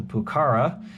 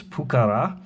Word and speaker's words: Pucará: buddy of mine that the emphasis is on the second a not the first a so in english we typically call it the pukara apparently it's pukara i'm probably still butchering